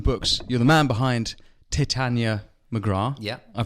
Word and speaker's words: Titania McGrath: You're the man behind Titania McGrath. Yeah. I pronounced it correctly?